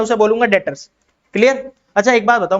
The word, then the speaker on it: debtors: इसमें पता नहीं क्या साइलेंट होता है, क्या साइलेंट होता है, बी साइलेंट होता है, डेटर्स बोलते हैं हम इसको, तो डेटर्स है।